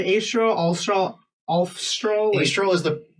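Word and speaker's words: Alfstrahl: an F in there f is silent I was like I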